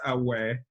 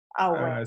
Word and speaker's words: Aoaeh: It's pronounced Aoaeh. Aoaeh.